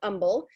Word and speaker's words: Humble: in a little town called Humble, spelled humble, but if you pronounce it that way, you will be corrected quickly.